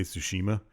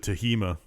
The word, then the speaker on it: Tsushima: awards that was announcing him he couldn't say tsushima he kept saying it wrong i can't either so i like ghost of tahima ghost of yeah it seems like a lot